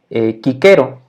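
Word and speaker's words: Cicero: y entonces por ejemplo tenemos un nombre un nombre propio que se hicieron y se escribe si 0 o así como el olivo en español pero realmente en latín se diría kicker o no porque la se siempre funciona como una acá kicker o y otra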